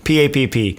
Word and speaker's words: Papp: And she had the Northern Ohio accent, and it was Patty Papp. Patty Pap. Patty Papp. I want to make clear I'm not exaggerating. That was the pronunciation. That's not a character that I'm doing. That's the way Patty Papp said her name.